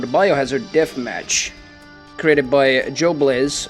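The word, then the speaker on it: Joblez: Biohazard Deathmatch, created by Joe Blaze, or J-Bulls, I think he preferred how it's pronounced, but his name is spelled like J-O-B-L-E-Z, and I don't know, he called himself, like, he pronounced his own name like J-Bulls, but I don't know,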